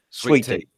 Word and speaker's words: sweet tea: it's a southern thing sweetie sweetie sweetie sweetie yeah almost y'all most gotta tell you got to give a little infamous on the second syllable sweetie sweetie yeah it's